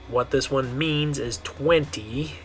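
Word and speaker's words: veinte: All right, and the way you're going to say this one is 20. 20. Remember, you're making a B sound, 20. Now, I have heard a lot of English speakers will mess this one up because they want to say the V sound on this one, because that's the way you say it in English.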